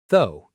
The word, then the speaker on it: though: A lot of learners try to say every letter, but it's actually very short. Though, almost like the word go, but with a th sound.